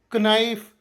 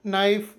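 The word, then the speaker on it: knife: ಇಲ್ಲೂ H silent ಇರುತ್ತದೆ silent K ನಿಯಮ ಪದದ ಆರಂಭದಲ್ಲಿ ಎನ್ ಅಕ್ಷರದ ಮುಂಚೆ ಕೆ ಬಂದರೆ ಕೆ ಅಕ್ಷರವನ್ನು ಪೂರ್ತಿಯಾಗಿ ಸೈಲೆಂಟ್ ಮಾಡಬೇಕು ಇದುಕೆಎಓ ಡಬಲ್ ನೋಕೆಎನ್ ಐಎಫ್ಇ ನೈಫ್ಕೆಎನ್ ಡಬಲ್ಇ ನಿ ಕನೋ ಕನೈಫ್ ಕನಿ ಅಲ್ಲ ಇದು ನೋ ನೈಫ್ ನಿ ಸೈಲೆಂಟ್ ಎಲ್ ನಿಯಮ ಸಾಮಾನ್ಯವಾಗಿ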